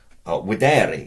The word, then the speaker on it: videre: Videre in the infinitive. Remember that the V is pronounced as a W.